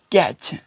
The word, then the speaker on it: catch: अगर टी के बाद CH हो तो क्या है कि टी की वॉइस खामोश हो जाएगी, टी को हम पढ़ा नहीं जाएगा।